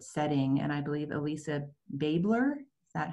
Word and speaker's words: Babler: And I believe Elisa Babler, is that how to pronounce that, is on the line. I see you smiling. Good morning. Welcome, Elisa. It's what? Babler.